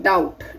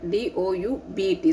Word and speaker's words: doubt: Again, doubt. D-O-U-B-T. So B is not, I am pronouncing doubt. No, I am pronouncing doubt. So B is again a silent letter.